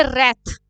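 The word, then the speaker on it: wreath: तो उसे हम कहेंगे रथ डब्लू इ साइलेंट यर रथ का मतलब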